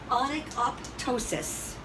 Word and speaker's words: onychoptosis: Onychoptosis or onychophosis. They don't sound anything alike, but nobody's talking to you at the state board. The only difference in these two words is the T and the H.